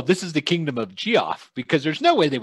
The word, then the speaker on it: Geoff: It's Geoff, because no one's going to call it Kingdom Jeff. Thought it was pronounced. That's how Shane said it the first time. So that's Geoff is the correct pronunciation.